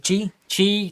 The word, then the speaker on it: Qi: Yeah, it uses the I can never pronounce it. QI. Is that Qi charger?